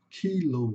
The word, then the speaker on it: kilo: Só que em inglês aqui tem um longo, então vai falar kilo. Kilow. Vocês até podem ver na nativo em inglês falando a palavra rádio. Eles falam radio, né? Eles eles põe esse ou no final, parece que tá continuando, né, a palavra. Então é kilo, tá?